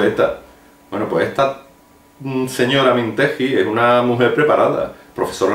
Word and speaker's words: Mintegi: a la cabeza Laura mintegi mintegi sí porque no tiene u en medio yo como no sé